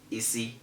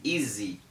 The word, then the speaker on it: easy: is it's not ease have you ever had anybody say easy before no it's always easy have you ever wondered